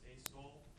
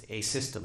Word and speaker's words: asystole: Cave was quickly, and I'm going to probably mispronounce this, asol. What is, am I saying that correctly? No, How do you pronounce it? it's asystole.